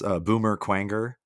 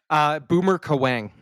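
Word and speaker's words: Boomer Kuwanger: No, Boomer Kawang. Boomer Kawang. Okay, because when I was a kid, I pronounced it Boomer Quanger.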